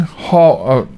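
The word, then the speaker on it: Hawj: minnesota minnesota state senator fong hall h-a-w-j there you go that's my best pronunciation i'll just spell it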